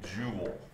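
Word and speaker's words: joule: energy is measured in a unit called a jewel only it's spelled that way because it's named after scientist your final value is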